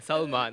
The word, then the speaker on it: Salman: Please pronounce that for me. Salman. S-A-L-M-N. Salman.